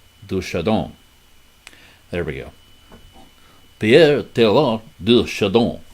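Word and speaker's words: Pierre Teilhard de Chardin: Teilhard, as the D is silent, I remember.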